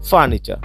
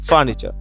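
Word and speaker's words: furniture: একইভাবে চলো ফার্নিচার, ফার্নিচার, একটু খেয়াল করে দেখবা এখানে কিন্তু এই যে টি ইউ রয়েছে, অর্থাৎ এই টি ইউ এর উচ্চারণটা কি হয়ে যাবে, টি ইউ এর উচ্চারণ হয়ে যাবে চ, অর্থাৎ ফার্নিচার, ফার্নিচার।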